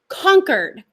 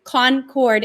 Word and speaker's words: Concord: have accents here so we say conquered so we can tell that the singer of this video is not local to new hampshire because he pronounced it the way it looks phonetically concord instead of conquered and we'll soon find